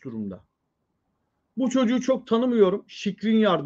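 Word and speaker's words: Škriniar: Şikrinyar diye okunuyormuş.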